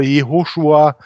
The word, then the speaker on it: Jehoschua: desselben Namen das ist wenn man hebräischen liest ist es Joshua jehoschua ist es das wir